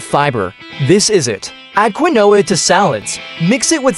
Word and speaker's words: quinoa: Next, we've got quinoa, pronounced quinoa.